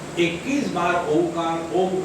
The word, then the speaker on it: ओम: उ कप इसका लंबा ओमकार के उच्चारण में ओ का नहीं म का दीर्घ करना है र्म प्रव उचार मनो